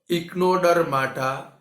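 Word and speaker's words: Echinodermata: इक्नोडर्मेटा। Student पहले pronunciation सीखो, इक्नोडर्माटा या तो इक्नोडर्मेटा।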